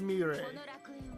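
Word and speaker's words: Mirei: This character, Marai, Marray, I forget how to pronounce her name. Okay, it is Mire, but Mire has become basically a staple character within the Digimon franchise gamewise.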